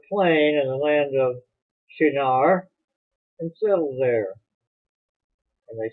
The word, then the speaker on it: Shinar: The land of Shinar, or Shinar, some people pronounce it, was where Babylon would later become a great empire.